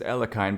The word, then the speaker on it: Alekhine: Officially, it's pronounced as Alakine, but I'm just going to call it Alakin because the real life Alakin's gun is actually a famous chess formation named after Alexander Alakin. It kind of means placing